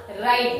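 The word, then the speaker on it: write: आर च्या आधी आला हे बघा silent W before R आर च्या आधी जेव्हा डब्ल येतो तेव्हा तो गप्प बसतो तो बोलत नाही त्याचा आवाज होणार नाही आहे ना तो आपला तो तिथे असतो स्पेलिंग मध्ये पण तो आवाज करत नाही तो बोलत नाही तो गप्प बसलेला असतो म्हणून त्याचा उच्चार आपण करणार नाही. स्पेलिंग मध्ये लिहायचा आहे स्पेलिंग मध्ये लिहावाच लागणार परंतु उच्चार करायचा नाही.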